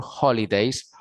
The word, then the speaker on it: holiday: going to spend your holidays holiday recordemos que la h siempre es una jota holidays a donde vas